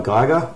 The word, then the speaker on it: Giger: It's H.R. Giger, or Giger, however you want to pronounce it. There are a lot of sort of debates about that, but to me it's Giger.